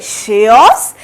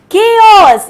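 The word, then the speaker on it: chaos: सो आप लोग मुझे बताइए, इसे आप लोग क्या बोलेंगे? शेओस, केओस या फिर चेओस? सो इसका जो सही आंसर है वो है केओस।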